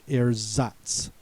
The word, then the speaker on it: Ersatz: The next word is Ersatz, also pronounced Ersatz.